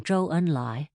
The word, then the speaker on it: Zhou Enlai: ZH, as in Zhou Enlai, is pronounced like a J, but with the tongue curled almost to the roof of the mouth, and Z, as in Zun Yi, is like the DS in ads.